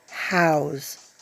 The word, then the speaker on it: Howes: I just checked with my English husband, and it is pronounced House.